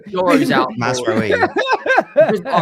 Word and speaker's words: Mazraoui: Sorry, Mazraoui. Euro's out. Masraoui. All right, my pronunciation's poor.